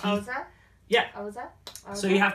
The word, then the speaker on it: Xhosa: Oza. Pretty sure that's it. You kind of have to have like in order to pronounce that, you have to have your tongue kind of between your teeth. Oza?